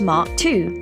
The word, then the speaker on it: MK2: MK is short for Mark. Therefore, MK2 is pronounced as Mark II.